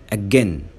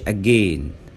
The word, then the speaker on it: again: احنا بنقول said ما ينفعش نقول said. says ما قولش says. again ما قولش again. against said says again against. any many هنقولهم مرة كمان.